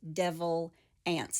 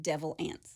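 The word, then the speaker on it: Devil Anse: by one of his direct descendants it is pronounced devil ants like a n TS it's spelled a NS E I thought that's what you said it first devil ants but they do pronounce it devil ants gotcha his given first name was Anderson so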